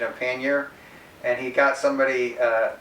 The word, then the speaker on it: pannier: a whole video on the proper pronunciation of pannier and he got somebody uh a scholar from the oxford english dictionary and uh the it is settled that it's pronounced pannier anyways so in this uh bag i got